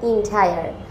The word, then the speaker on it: entire: এর মধ্যে ENTIRE, এটার প্রোনাউন্সিয়েশন হবে এন্টায়ার। দ্য এন্টায়ার ডে মানে সারাদিন, সম্পূর্ণ দিন।